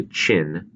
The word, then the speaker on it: Qin: at the Shang Dynasty the Jo dynasty the Qin Dynasty and the Han Dynasty that's the way you pronounce those different dynasties this is Qin kind of like China and the Jo the